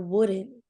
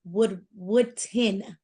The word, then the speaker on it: Woodton: And even, Deasia Wooden, she always says I say it wrong, but it's Deasia Woodton. I always want to say Wooden, but it's Woodton.